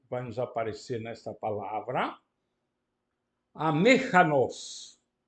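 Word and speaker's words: ἀμήχανος: Amechanos. Amechanos, o acento fica em cima do eta. Reparem, a última vogal é breve, e então o acento pode ficar na antepenúltima sílaba.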